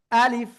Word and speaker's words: ألف: শেষের দিকে নিচে ঠোঁটের পেট, উপরের দুই দাঁতের আগার সাথে লাগিয়ে হালকা বাতাস বের হবে। আলিফ, আলিফ, আলিফ, আলিফ।